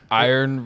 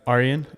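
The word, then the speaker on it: Arjen: the squad no no iron Robin I'd probably butchered his first name aryan aryan yeah uh is not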